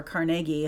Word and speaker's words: Carnegie: So what I was leading up to is Andrew Carnegie, or Carnegie, how they pronounced it in the documentary, used to just ride his horse every morning.